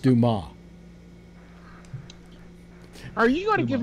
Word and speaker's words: Dumas: It's pronounced, by the way, it's pronounced Dumas.